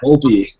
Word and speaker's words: Volpe: How do you pronounce your last name? Does it matter? My last name is Volpe.